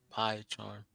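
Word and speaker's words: PyCharm: Oh, it's spelled P-Y, pie charm.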